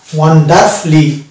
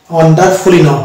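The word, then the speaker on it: wonderfully: অনুরূপভাবে এই ওয়ার্ডটা পেয়ে ওয়ান্ডার ওয়ান্ডার ওয়ান্ডারফলি ওয়ান্ডারফুলি ওয়ান্ডারফুলি নট ওয়ান্ডারফুলি বাট it will be ওয়ান্ডারফলি then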